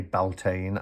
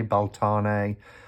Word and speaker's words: Beltane: put it out there i say beltane i know some people say boltane i've heard people say baltana um it's it's whatever whatever you want to uh however you want to pronounce it is fine but i always say